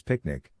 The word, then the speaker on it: PQNK: PQNK to be pronounced as picnic which stands for Peter Trini Zam cash outari and means the regenerative and sustainable pristine organic farming system.